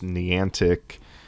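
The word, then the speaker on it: Niantic: with with Pokemon go I think it's knee antic that's what I how it's pronounced but I find it strange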